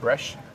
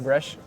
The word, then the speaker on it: Breizh: Yes, the word Brèche means Brittany, the area of France, Brittany, in their local dialect. That's how you would say it, Brèche. It's spelled very differently, but it's pronounced Brèche.